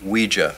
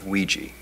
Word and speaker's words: Ouija: Ouija what it's pronounced Ouija not Ouiji it comes from the French and German words for yes we and Y Ouija